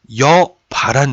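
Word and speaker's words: 여봐란 듯이: 여보란 듯이 나도 이제는 여보란 듯이 사버렸다. 이거 꽤 많이 씁니다. 근데 이거요. 여바란 듯이에요. 여바란 듯이 맞아요. 여보란 듯이는 안 돼요.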